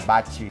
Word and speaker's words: bocce: So wedding parties can't wait to come here and get their picture taken on the bocce courts.